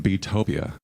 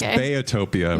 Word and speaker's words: Beatopia: owe you an apology I've been calling your latest album beatopia but I understand it's bayotopia right okay tell me about the pronunciation and why I was messing it up bayotopia so it's because my parents call me Bea um everybody calls me